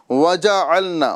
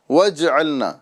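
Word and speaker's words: وَجَعَلْنَا: लिहाजा यहां पर हमें वज अलना वजना ये पढ़ना है ना कि वजलना ठीक है ये जीम साकिन नहीं बल्कि मुतहरिक है हम इसको मश करेंगे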